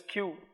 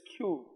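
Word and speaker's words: queue: The pronunciation is Q. There is no use of adding the letters UE, UE, but the pronunciation is Q.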